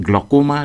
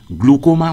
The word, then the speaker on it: glaucoma: একটা কথা বিশেষ করে বলার দরকার যে চোখের গ্লকোমা রোগকে অনেক মানুষ গ্লুকোমা উচ্চারণ করেন। গ্লুকোমা এটা ভুল উচ্চারণ, সঠিক উচ্চারণ গ্লকোমা।